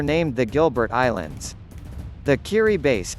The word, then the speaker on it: Kiribati: Kiribati, pronounced Kiribati, weird, right, is an archipelago of islands in the Pacific Ocean that stretches across some 3.5 million square kilometers of water.